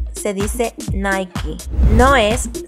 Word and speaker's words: Nike: No se pronuncia Starbucks, se pronuncia Starbucks. No se dice Nike, se dice Nike.